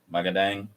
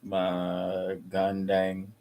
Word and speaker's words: magandang: Magadang. You just read it slowly. Magandang.